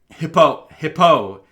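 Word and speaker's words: Hippeux: Hippo. It's spelled like Hippauix. It's like French. It's a French hippo.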